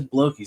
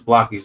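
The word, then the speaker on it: Blokees: Why do I say blokies? Cuz everybody says blokies. They're saying it wrong. Folks, if you didn't know, it's Blockies, not Bokies. Because from what I heard, the origin of Blockies was they were a building block company.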